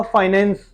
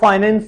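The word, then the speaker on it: finance: photographer आपने सुना होगा फाइनेंस वो फाइनेंस नहीं होता दिस इ कॉल्ड फाइनेंस कॉल्ड फाइनेंस न फाइनेंस इट फाइंस फोटोकॉपी नहीं फोटोकॉपी इटस फोटोकॉपी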